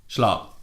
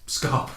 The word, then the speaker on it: Scarp: It's from Monet Bloody Schlarp. Scarp. You got his name wrong, you idiot.